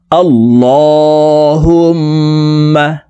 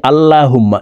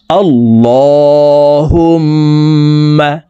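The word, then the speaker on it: اللَّهُمَّ: শব্দটি এভাবে পড়তে হবে আল্লাহুম্মা আমরা অনেকে আল্লাহুম্মা এভাবে পড়ে থাকি আল্লাহুম্মা বলা যাবে না এই লামকে ল অর্থাৎ মোটা করে পড়বো আল্লাহুম্মা আল্লাহুম্মা এই হাতাদওয়ালা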